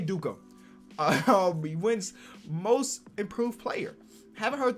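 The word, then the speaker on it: Dickau: duke who i mean i'm always going to pronounce it dukkha i guess you could pronounce it a couple different ways i'm gonna always say dukkha most improved player haven't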